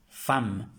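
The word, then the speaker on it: femme: e y una m se pronuncia como una fam que esto traduce mujer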